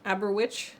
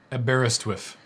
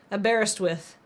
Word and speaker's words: Aberystwyth: No one knows how to pronounce it. Welcome back. Aberwitch.